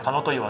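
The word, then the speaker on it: 神の戸の岩: あるんですよこれ神の戸の岩と書いてかの岩って言うんですけどもまめちゃくちゃ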